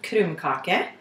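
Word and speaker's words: krumkake: are going to make norwegian cookies which are pronounced kurumkake they are basically a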